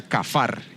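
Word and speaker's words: כפר: Expiar viene de una palabra en hebreo, su raíz se pronuncia kafar, significa cubrir.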